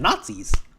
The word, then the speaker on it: Gnatzis: They're called Nazis. Why are you pronouncing like that? Because in this comic, they're called Nazis, as in Nat the Bug, GNATZIS.